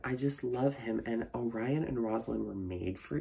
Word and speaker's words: Orion: get me wrong but Orion Hong I still feel so bad that I mispronounced his name as oron for so long but Chloe Kong thank